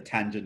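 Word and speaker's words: tanh: x divided by cosine x you get the tangent of x we have something called the tange that's how it's pronounced this is the hyperbolic tangent it's just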